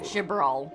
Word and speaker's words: Chibral: Chibral, that's how you pronounce it.